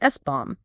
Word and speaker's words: SBOM: of the software bill of materials or SBOM, pronounced SBOM.